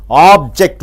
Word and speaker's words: object: example you see noun object o b j e c t if you stress on OB it becomes a noun a thing object he purchased some OB